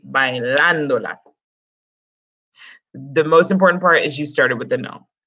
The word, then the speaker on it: bailándola: If we took that tilde away, it would be pronounced bailándola, which is muy, muy raro. It needs to be bailándola.